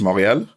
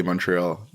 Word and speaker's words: Montréal: Like technically in French, it's Montréal, but obviously, like if you're speaking English, you're gonna say Montreal instead of Montréal, which is like the French pronunciation.